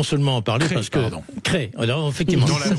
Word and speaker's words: Crest: en parler parce que cré effectivement ça s'écrit cest dans la drôme et on dit cré comme s'il y avait un accent circonflexe en quelque sorte comme forêt voyez forestier forêt cré et c'est la ville